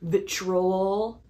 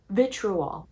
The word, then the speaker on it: vitriol: Obviously for ships that I don't like, but maybe don't have the same vitrol. Vitrol. V. How do you say that word? Vitrial. Vitrial. Vitriol. V.